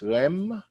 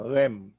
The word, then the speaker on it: realm: The word is REM. The L is silent. REALM, REM.